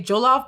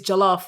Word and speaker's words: jollof: just jolof you know some people say jolof but it's jaloff really we say jalof jaloff